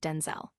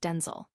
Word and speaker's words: Denzel: his honor adding because my name is not pronounced Denzel. My name is pronounced Denel.